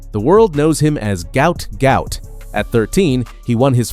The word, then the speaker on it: Gout: His full name, pronounced to rhyme with pout, was misspelled during his family's transliteration from Arabic. The world knows him as Gout Gout.